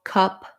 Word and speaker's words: cup: those three words together so pair them with another word to help you for example you could say a cup or some cups that cap so you have that a um or black cap black cap getting that bowel to match and then not a cop or father's a cop just to be able to match that vowel because as soon as